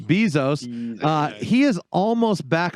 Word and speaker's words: Bezos: is almost i think most people pronounce it with the long e bezos uh he is almost